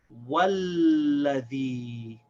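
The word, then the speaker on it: وَالَّذِي: The Hamza al-Wasl becomes silent, so this lam will connect to this waw. It's going to skip over the Hamza al-Wasl. You say walladhi.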